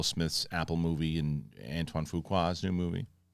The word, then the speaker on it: Fuqua: There's a new trailer, Will Smith's Apple movie and Antoine Fuqua's new movie. That is Fuqua? That's how you say it.